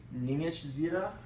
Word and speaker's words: Ningishzida: This all the Sumerian god-- I'm going to have to look to pronounce this one. I don't even know. Ningishzida.